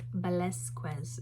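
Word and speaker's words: Velázquez: It's Velasquez and technically the S sound is a TH, but I they said it's acceptable to say the S sound when you're not Spanish and I'm not.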